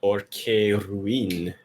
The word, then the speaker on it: Caerwyn: In the southeast corner of the map, our purple Terran is Fellowship Esports' own Caerwyn. Or Caerwyn, if you go And with Welsh in pronunciation.